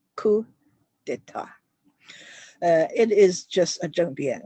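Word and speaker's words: coup d'état: So it's two French words. A coup of the state. A coup of the state. You don't say this P and you don't pronounce this T. So it's coup d'etat.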